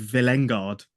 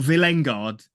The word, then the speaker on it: Villengard: himself pronounces villain guard how's he pronounce the Y of villengard not villengard it's villengard shooting oh come on